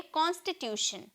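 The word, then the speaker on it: constitution: दिख रहा है ना तो बहुत लोग इसे बहुत लोग इसे टन में प्रोनाउंस करते हैं क्योंकि ट का साउंड ट टी का साउंड ट में निकलता है ना तो कांस्टीट्यूट कहते हैं लेकिन ऐसी कोई बात नहीं है इसे हम प्रोनाउंस करेंगे शन में ओके हम इसे प्रोनाउंस करेंगे शन में शन में हम बोलेंगे कॉन्स्टिट्यूशन कॉन्टी यहां पर टी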